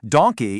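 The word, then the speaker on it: danke: If you just remember the animal donkey, but without the long e at the end making it Donke, you will literally never forget how to say thank you in German.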